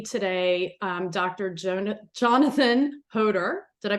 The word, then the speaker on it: Hodor: have with me today um Dr Jonah Jonathan hoder did I pronounce that correctly you sure did um and